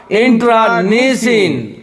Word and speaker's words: internecine: इसका उच्चारण होगा इंट्रानिसिन.